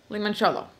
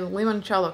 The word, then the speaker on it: limoncello: chip and lemon lemon cello okay it's Italian limoncello so I'm pronounced it right anyway let's go get started